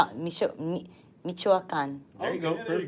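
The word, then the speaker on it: Michoacán: It's Michoacan, There you go.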